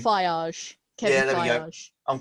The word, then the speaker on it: Feige: Do you reckon that, is it Kevin Feige, whatever you pronounce his name? Feige.